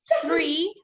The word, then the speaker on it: three: we see in the park yes so that's three this one is four four five five six seven eight nine ten ten good delivery 19 20.